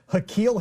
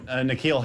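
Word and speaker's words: N'Keal: Uh, Hakequille Harry. Oh, Nquille Harry. Nquille. I'm sorry. Nikquille. I'm sorry. Nquille. Yeah. Nquille in this case is spelled N apostrophe. K E A L.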